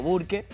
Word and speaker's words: Burke: trato de pronunciarlo bien acá se conoce como burke se le dice burke burke pero bueno Tratamos